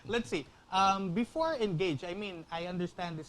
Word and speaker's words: Andgage: How do you spell engage? Could you spell it, Norbert? Oh, we spell it as Andgage, but it's pronounced as Engage. So Okay.